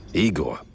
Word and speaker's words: Igor: I'm Igor. Igor. Not I gor. No, it's pronounced I gor.